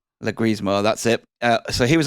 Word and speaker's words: Leguizamo: I can't pronounce his name right. Leguizamo, that's it.